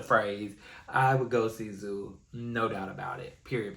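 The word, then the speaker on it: Zhu: This man, and I think it's pronounced Zoo, Z-H-U.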